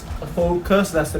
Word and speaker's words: Fokoos: here it's pronounced as full cuss this is how the company wants everybody to pronounce that i find it really